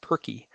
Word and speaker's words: PRCI: we we use the we pronounce that perky so if you ever hear somebody talking about perky you'll know that it's